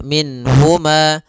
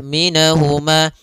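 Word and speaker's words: مِنْهُمَا: dengan huruf ha maka tidak boleh ditahan misalnya ditambah dengan gunna minhuma ini enggak boleh atau ditahan suaranya minhuma enggak boleh juga Maka langsung saja minhuma dan dia tidak boleh mantul nunnya tidak boleh minahuma minahuma ini juga sama tapi dia sempurnakan makhraj daripada Nun minhuma maka yakuju minhumu kemudian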